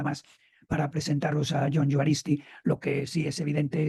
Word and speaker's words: Juaristi: Matiz Y es que la J de mi segundo apellido de mi primer apellido perdón de se pronuncia J juaristi joh juaristi es una